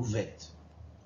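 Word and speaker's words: ב: C'est-à-dire bet se prononce bet ou vet.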